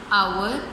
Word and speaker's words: hour: H is silent in these words, so our is pronounced an hour, and honest is pronounced as honest.